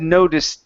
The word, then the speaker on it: noticed: word noticed okay so let's get a good uh ed sound here at the end so this will be a t so his dad noticed his gaze his dad